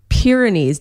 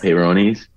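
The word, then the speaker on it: Peyronie's: least the baby's got soft skin what is Pyrenees disease am I pronouncing peyronies Pyrenees oh peyronies peyronies peyronies is when guys have curvature to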